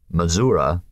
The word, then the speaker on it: Missouri: were all but vanished Missouri mura as one was supposed to pronounce it was no longer the